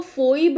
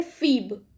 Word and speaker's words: Phoebe: वो goddess of moon से उसको कंपेयर करते हैं जिनका नाम है फीब। Although the spelling is written as Phoebe, but the pronunciation is Phoebe. Okay, उसको फोइब नहीं पढ़ते, उसको पढ़ते हैं फीब।